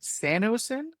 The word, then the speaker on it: SanoSyn: And so, am I right in pronouncing it SanoSyn?